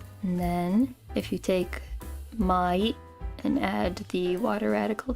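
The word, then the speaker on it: 毎: This is mai, which means every. This is old, which is pronounced furu or ko.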